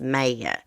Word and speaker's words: Maya: And I think her name is pronounced Maya, but her family calls her May, for the record.